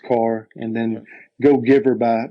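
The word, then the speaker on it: Kerr: last five years is James ke or it's pronounced car and then go Giver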